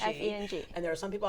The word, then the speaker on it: Feng: It's really pronounced Feng, right? Yes, Feng. Yeah. Yeah, there's an American and Asian way to pronounce it.